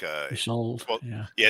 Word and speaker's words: Isolde: It's like a Isolde. Yeah. Yeah, Isolde.